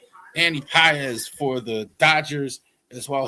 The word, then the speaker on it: Pages: I'm I'm so tempted to honestly say Andy Pages, but that's not how you say it. Andy PZ for the Dodgers as well.